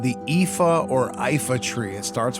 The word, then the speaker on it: Iifa: back in the day, actually thought it started with an L and was called the Lifa Tree, but it is actually called the Iifa Tree. That's my pronunciation anyway, so that's what I'm going with.